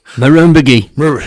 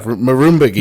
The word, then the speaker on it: Murrumbidgee: Murrumbidgee. There you go. Murrumbidgee.